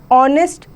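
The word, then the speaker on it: honest: कुछ वर्ड जो होते हैं वो साइलेंट H से स्टार्ट होते हैं। Example an ऑनेस्ट person, N आर, N honourable man, an honour.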